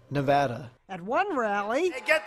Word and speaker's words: Nevada: The Donald seemed delighted with his own pronunciation. Nevada. Nobody says it the other way. It has to be Nevada. Actually, Donald, wrong. This is right. Nevada.